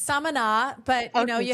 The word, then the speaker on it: Samaná: Samaná. Is that how you say the town? Yeah, you're close. It's Samaná, but you know, you sound like a real local when you know that it's Samaná.